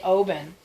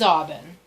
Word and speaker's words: Aubin: We say Aubin, but Yeah. it is Aubin because it's French and it was spelled differently. Oui, c'est ça. And it got changed when they immigrated to Oben.